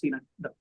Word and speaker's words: synecdoche: synecdoche, pronounced synecdoche.